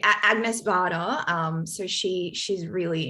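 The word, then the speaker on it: Agnès Varda: um i really like add nevada sorry i'm mispronouncing her name let me just repeat agnes bada um so she she's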